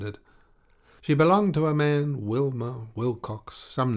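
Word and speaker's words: Mahon: man but he insisted that it should be pronounced man he was well connected yet there was something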